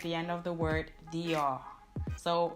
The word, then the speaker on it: Dior: Dior. So it's not Dior because the R is back in the throat, but it is actually Dior.